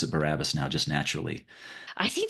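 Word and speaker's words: Barabbas: And so I pronounce it Barabus now just naturally.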